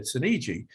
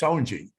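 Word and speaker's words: Soneji: gary sinichi's name and i said suniji so of course in the movie it's sonji so you're like why did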